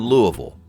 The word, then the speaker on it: Louisville: A blink and you'll miss it patch of suburban Louisville. And yes, that's the only way to pronounce that city.